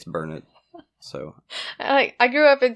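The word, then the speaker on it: Burnet: it burn it yeah my Texas wife told me it's burn it so I grew up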